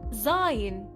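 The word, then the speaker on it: زاي: The name of the letter Zai is sometimes pronounced Zai, Zai, or even Zain.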